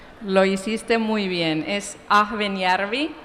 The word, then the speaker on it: Ahvenjärvi: como un papelón lo hiciste muy bien es a joven y harvey y te salió casi perfecto yo lo que